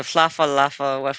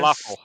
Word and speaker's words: falafel: Flaffa waffle, the Flaffa Laffa, whatever that is. Falafel.